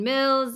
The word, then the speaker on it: Mills: me my name is Karine Mills it rhymes with bills you know the one